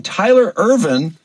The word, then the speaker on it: Tyler Irvine: coach over there and he is the amazing Tyler Irvin is that did I pronounce it right Tyler yeah that's my name